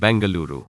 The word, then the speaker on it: Bengaluru: pronounce its new name it's now called Bengaluru that is how it is called in kannada my native language any family still in